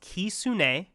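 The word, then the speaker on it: Kitsune: I believe it's pronounced Kisune, which according to Wikipedia means fox in Japanese.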